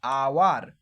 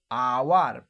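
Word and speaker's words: hour: দেখো উচ্চারণ করো তুমি, দেখো এইচটা অনুচ্চারিত থেকে যাবে, আওয়ার, আওয়ার, তাহলে ও আসছে দেখো এইচের উচ্চারণ আসছে না, তার কারণে এখানে অ্যান বসেছে।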